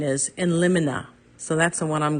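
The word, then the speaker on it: in limine: discussion on how to pronounce this some say lemony some say lonina Webster's Dictionary proper pronunciation is in lonina so that's the one I'm going with now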